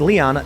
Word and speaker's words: Lyon: Golden Fleece Games says, referring to your France segments from earlier, the city of Lyon is pronounced Leon, not Lion.